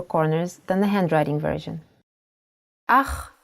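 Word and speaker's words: אח: than the handwriting version ah is a brother in Hebrew aha the pronunciation is important try to pronounce it more glottal e from your throat hava is a farm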